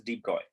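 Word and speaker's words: de Broglie: how to pronounce it I think I have seen somewhere that we pronounce this as debroy okay so Louis Victor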